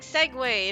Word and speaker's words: segue: And they're like, you know, like segue.